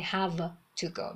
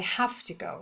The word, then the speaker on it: have to: اما وقتی بعدش to میاد هم معناش عوض میشه و هم تلفظش. I have to go. دیگه نمیگیم I have to go. میگیم I have to go. اینجا وی صدای ف میده. صدای اف میده.